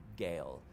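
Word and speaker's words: Gaol: The Knights of the Solitary Gale, or Jail, or Well, may just yeah. be pronounced Jail. I think someone online told me it was just pronounced It's Jail.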